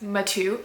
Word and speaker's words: Mathieu: It is pronounced Mathieu, apparently.